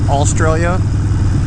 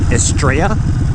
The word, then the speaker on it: Estrella: fun of me because i call it australia but it's like estrella like spanish for star so yeah i need